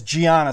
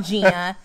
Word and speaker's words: Gianna: here your name is gianna spell it for us g-i-a-n-n-a it's not gina it's not joanna it's not donna this is these are